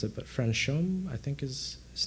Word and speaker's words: Franchomme: I'll butcher his name if I try to pronounce it, but Franchomme, I think is his name. Franchomme, thank you.